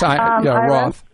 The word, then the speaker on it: Roth: And so I was wondering if we could open something like a Roth IRA. Is that how you say it? Yes, Roth.